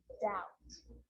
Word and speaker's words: doubt: thumb dumb drama and the letter b is often silent when it's before the consonant so think of these examples saturn and doubt so seeing all of those examples my lips are closing coming together to form the b sound i'm just pronouncing the team subtle death and doubt now the letter c can cause